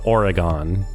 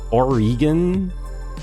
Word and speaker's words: Oregon: But I was listening to Arvid today, and he, like, hit the Oregon.